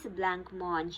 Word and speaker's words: blancmange: The pronunciation is blancmange. It is a French word.